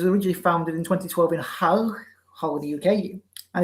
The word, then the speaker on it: Hull: founded in 2012 in hull hole in the uk and if i mispronounce it yes holy you drop the hitch as a first of all